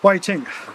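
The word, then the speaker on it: Hui Ting: But her name's Waiting. H U I T I N G which can be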